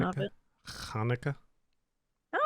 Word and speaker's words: Hanukkah: that's the pronunciation of Hanukkah. it. Hanukkah.